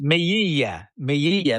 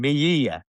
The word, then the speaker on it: Melilla: Melilla. No, you're talking about Melilla, pronunciation. Melilla. Melilla. Double L, so it's a J. Melilla.